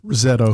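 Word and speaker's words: Roseto: the 60s there's this town say it again Rosetto RTO thank you Rosetto Pennsylvania and I'm from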